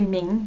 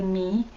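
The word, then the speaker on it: མིང: your me is name so we don't say ming ning is the written form when you pronounce it you say me kachimo is what is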